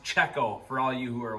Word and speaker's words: Cecco: time to put the front bumper on from Keo racing czecho racing sorry uh I talked to the owner himself and he said it's actually pronounced czecho for all you who are wondering cuz I